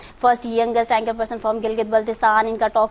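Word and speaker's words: Gilgit-Baltistan: बहुत से लोगों को यहाँ पर इवन सही से प्रोनाउंसिएशन भी नहीं आती, गिलगित बलोचिस्तान बोल देते हैं, गिलगित बल्तिस्तान, इस तरह से भी जो है ना वो बोले जाते हैं यहाँ पर।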